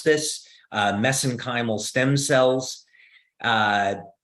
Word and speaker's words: mesenchymal: print pronounce this uh mesenchymal stem cells uh because that's how they pronounce it in Ireland so that's how I pronounce it but but the actual